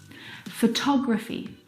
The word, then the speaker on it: photography: Now, if you look at the second example, photography, you can hear the pronunciation is different, and that's because the second syllable is the stressed syllable in this word, photography.